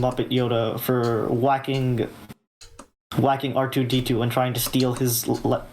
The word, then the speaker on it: R2D2: the Lord to me he always kept pronouncing it arito I was like okay so I guess his name his name arito until I realized like no it's R2D2 that's that's endearing and